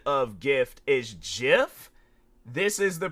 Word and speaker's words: GIF: I'm like, it's, you know, it's like Jeffrey, Jam, and it's like, and then gifts, it's like, you know, you think of like Christmas gift, like with a T at the end of it and stuff.